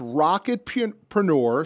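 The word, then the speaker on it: Rocketpreneur: about it so it's rocket preneur so it's yeah it's rocket like rocket and then preneur like entrepreneur yeah and I spell it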